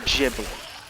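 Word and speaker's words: Ghibli: and yeah I guess in America you would say jii like the dude just said so so you're saying there is you're saying there is no jibli or you saying there is no technically gibli no like so it's jibli in America like the dude said but there's no gibli in G yeah but like you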